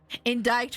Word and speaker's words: indict: Indict rhymes with insight.